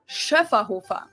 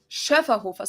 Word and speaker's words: Schöfferhofer: flavors, and it's pronounced Schöfferhofer. Schöfferhofer. So the first one has an umlaut, the second one doesn't. Schöfferhofer.